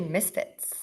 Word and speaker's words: MSFTS: guest is kayin or founder of msfs that's a mouthful it is it's actually Misfits Misfits oh wait nobody